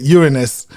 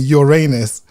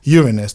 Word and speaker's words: Uranus: And that's why I pronounced it Uranus. That's his correct pronunciation, because I grew up saying Uranus. So I made a conscious, no, let's just show them, demonstrate at least educated. It's called Uranus.